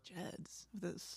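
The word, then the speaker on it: Gedds: Jeds. Geds? Soft G.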